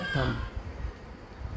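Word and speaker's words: thumb: Option number A थंब थंब में हमारा यहां पर बी जो वर्ड है ये साइलेंट है इसका सही प्रोनाउंसिएशन होता है थंब।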